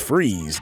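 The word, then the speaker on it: Fries: batman animated series now victor freeze pronounced freeze get it was painted as a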